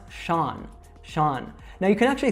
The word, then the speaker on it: Sean: All right, so as I said, this is an Irish name, and when we see Irish names, they are not pronounced anything like the way they are spelled.